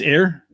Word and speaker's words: Ayr: in scotland is it and it's it's air yeah so and it's spelled ayr why did they spell